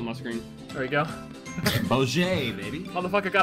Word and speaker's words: Bogey: Boj, baby. got a donut on his screen. That's how he's hitting all the head shots. Yeah. Every No. Every golf bogey doesn't turn bogey.